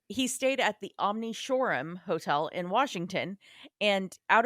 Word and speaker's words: Shoreham: even know how to spell it though, so it's not. It's the Wait. wait. Shoreham. Yeah, Shoreham. I heard Florum.